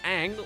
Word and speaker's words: Aang: and by the way they actually mention his name it's pronounced Ang wow God the standard